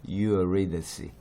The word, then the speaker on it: Eurydice: 영어로는 요게 이렇게 하는데 영어에서는 중요한 게 뭐냐면 이 액센트 또는 스트레스라고 우리가 부르는데 이게 중요해요. 요거 조심하시고 K가 C로 바뀌면서 C 발음이 났어요. 그래서 Eurydice 그죠? Eurydice.